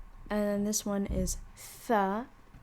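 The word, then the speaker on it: ث: And then this one is tha. It's you pronounce it like the tha in thermometer, right? It's just tha.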